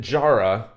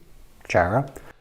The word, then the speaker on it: Jara: What I didn't know, and I'm kind of glad I didn't, is that Jara doesn't actually rhyme with sayonara. It's really pronounced Jara.